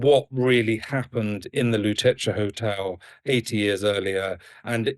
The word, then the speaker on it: Lutetia: Is it pronounced Lutetia?